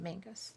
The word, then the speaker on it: Menzies: We it's spelled Menzies. They say Mingus. Hmm. I don't know why.